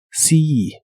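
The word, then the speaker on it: see: de ver a alguien la doble e de esta palabra se pronuncia como una I larga o doble si si y usarás el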